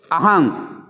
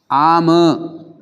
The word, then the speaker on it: अहं: अभी कहता है अहम बंते, अहंग, अहंग बनते गलत थे, अहंग नहीं कहना चाहिए। इसका शब्द आम, आम बनते, अहम बनते नहीं। इसलिए आप गलत उच्चारण करता ध्यान रखना। आम बनते कहना, अहम बनते नहीं कहना।